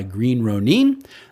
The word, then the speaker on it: Green Ronin: another really cool game that's put out by Green Ronin that is the correct pronunciation I went and asked until we see